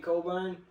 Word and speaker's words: Cockburn: Spelled Cockburn, but trust me, if it was pronounced Cockburn, I would have been on that. It should be pronounced Cockburn. It's pronounced Cockburn.